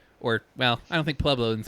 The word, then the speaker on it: Pueblo: word creek or or how you say certain towns like pueblo or pieblo which is the dumbest thing i've ever heard in my life yeah i said it